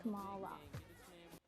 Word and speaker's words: Kamala: My name's pronounced Kamala.